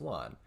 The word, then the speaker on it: Lan: her warter landman dragan whose name will be pronounced lawn which makes sense with more rain and gleam and tom